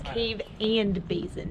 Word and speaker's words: Cave and Basin: a mystery DJ yeah we've been saying it wrong it's cave and basin that cave basin 214